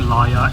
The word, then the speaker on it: Layar: So, we are approaching Layar. Just like Kupang, I like that this station has a punny, as the name sounds like the word "liar".